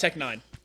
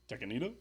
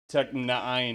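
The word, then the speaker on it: Tech N9ne: pronounced Tech Nine. Tekanita? Tech Nine.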